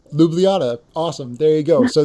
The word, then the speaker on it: Ljubljana: most recent one I should have checked the pronunciation for the capital city of Slovenia go for it say again Ljubljana Ljubljana awesome there you go so they just canceled